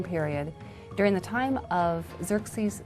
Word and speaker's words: Xerxes: His Persian name, in Old Persian, which is his original native language, is Shayarsha. Now, that was hard for the Jews to pronounce, so they said Ahasuerus. We know him as Ahasuerus. And the Greeks said Xerxes, which is Xerxes.